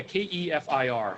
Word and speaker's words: kefir: but it's non-dairy fermentation yeah yeah so yeah KEF ir so Kieffer I think I'm pills if I